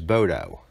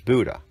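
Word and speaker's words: Bodø: I always pronounce stop one as Bodo, but it's pronounced as Buddha, like the fat philosopher from India.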